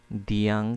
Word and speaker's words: দেয়াং: আমি আপনাদের একটু দেখাই দিয়াং খ্রিষ্টবাণী প্রচারের গোড়াপত্তন এটা এখন আঞ্চলিক ভাষায় আমরা সবাই এটাকে দিয়াং বলছি বাট এটার আসল প্রোনাউন্সিয়েশন হবে দেয়াং পূর্বে এটা দেয়া ছিল